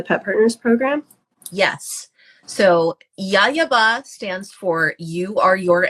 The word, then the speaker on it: YAYABA: I don't know how you pronounce that. Yayaba.